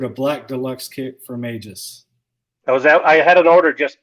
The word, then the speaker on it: Aegis: And as far as the pronunciation goes, Aegis or Aegis are both acceptable pronunciations of the name. We go with Aegis because from what I could tell, it was